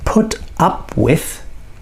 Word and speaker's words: put up with: Okay, so put up with is a phrasal verb, and in these situations, up and with are never weak. They change the meaning of put.